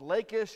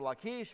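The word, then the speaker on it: Lachish: is a biblical city called lakish or lakeish however you want to pronounce it one of the places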